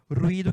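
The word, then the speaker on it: ruido: Ruído quer dizer barulho, né? Ruído, pronuncia diferente.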